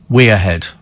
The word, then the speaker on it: Wearhead: Les chow and web that wearhead in County Derham is pronounced wead what does she pronounce